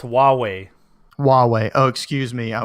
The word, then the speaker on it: Huawei: nothing crazy pretty sure that word is still pronounced Yahweh Yahweh Yahweh is what that yeah the Yiddish